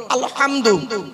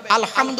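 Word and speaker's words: ٱلْحَمْد: বলছি উচ্চারণটা ঠিক করুন আলহামদ গলার ভেতর থেকে এটা উচ্চারণ করবেন আলহামদ মানে হচ্ছে সমস্ত প্রশংসা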